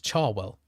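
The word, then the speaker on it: Cherwell: Someone in my video commented that it's not Chwell, it's Charwell.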